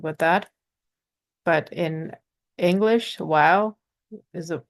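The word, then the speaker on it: واو: So wow, it's I guess easier for English speakers because it has the same pronunciation as the letter W, wish, want, wow. So it's not a difficult letter at all. For Urdu speakers, it can get difficult because Urdu speakers generally pronounce a lot of letters that start with the letter wow in Urdu with a V sound, like vaha, wo.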